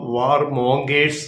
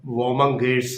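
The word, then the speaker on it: warmongers: യുദ്ധകാലം ആയതുകൊണ്ട് ചില യുദ്ധ ചിന്തകളും ആകാം വോമങ്കേഴ്സ് എന്ന് പറയും ഒരു കൂട്ടര് യുദ്ധപ്രേമികൾ എന്നാണ് അവരെ മലയാളത്തിൽ വിളിക്കാവുന്നത് വോമങ്കേഴ്സ് നമ്മൾ മലയാളത്തിൽ അത് ചിലപ്പോൾ വാർ മോങ്കേഴ്സ് എന്ന് പറയുമെങ്കിലും അതിന്റെ ശരിക്കുള്ള ഉച്ചാരണം വോമങ്കേഴ്സ് എന്നാണ് യുദ്ധകൊതിയന്മാര് യുദ്ധപ്രേമികൾ അത് പല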